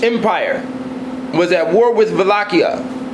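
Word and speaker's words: Wallachia: was at war with vakia in uh European languages w W's are pronounced with a V sound in 1462 Sultan mid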